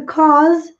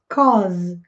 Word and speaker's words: cause: We had to cause to you. Cause. Cause. A U com som de O.